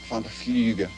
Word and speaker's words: van der Vlugge: Vlugge, van der Vlugge. Rhymes with tulips, which coincidentally is what I said.